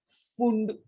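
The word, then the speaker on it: Pfund: Scientist name फुंड, फुंड, फुंड की spelling में P silent है।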